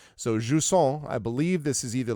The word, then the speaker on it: Jusant: By the way, the pronunciation was, I believe, Jusant is what I was told. So Jusant, I believe this is